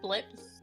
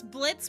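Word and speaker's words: Blitzø: but is it just blips though blips I feel like you guys just dropped the O It's Blitz with a silent o like that's what that's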